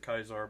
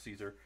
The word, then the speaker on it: Caesar: playing Caesar Legions Emperor I know in the games they pronounce it kaisar but I don't care it's Caesar um he's mardu um he's